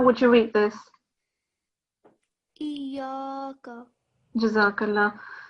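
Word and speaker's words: إِيَّاكَ: Iyaka. Jazakallah. So it's iyaka. It's a bit of an emphasis due to the shadda.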